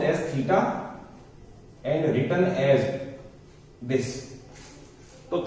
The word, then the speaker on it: theta: It is pronounced as theta and written as this.